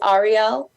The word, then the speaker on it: Ahriel: is very similar to my name um it's Arielle instead of Ariel I only did a slight